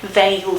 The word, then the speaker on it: veil: Veil, so v, this consonant is a fricative one, and v, labiodental, right? As opposed to wail.